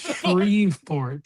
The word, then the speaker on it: Shreveport: You said you said like Shreversport. It's Shreveport.